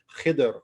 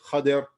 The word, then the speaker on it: Khidr: appointed to meet, and his name was Khidr, or some people say Khadir. There's about 10 different ways you could pronounce his name according to the scholars, but we'll go with Khidr, so it'll be easier to say. Some people think it's Khadir.